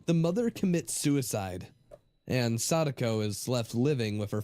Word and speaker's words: Sadako: That's how you pronounce it, Sadako.